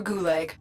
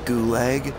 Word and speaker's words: gulag: They have gulag instead of gulag. And Gauss instead of Gauss.